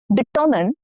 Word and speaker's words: determine: Now hint, stress is on the second syllable. You must determine the winner carefully.